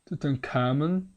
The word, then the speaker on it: Tutankhamun: Tutankhamun, or there are many ways of pronouncing it, but Tutankhamun is the most traditional, let's say.